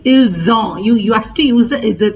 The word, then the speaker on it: ils ont: Remember that you have to give an IZ sound in all these 4 pronunciations because of the single S.